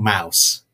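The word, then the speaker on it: Maus: really recommend right now it's called mouse and that is spelled m-a-u-s and if you don't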